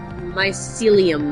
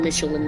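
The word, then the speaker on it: Mycelium: Myelium men. Oh, I've been mispronouncing it the whole time. I've been calling them Michelin men. That's not correct.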